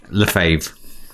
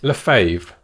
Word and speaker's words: Lefebvre: Lefebvre. Lefebvre. Yes, Lefebvre. It does have a B in there, but it's a silent B. It's a silent B. So Lefebvre.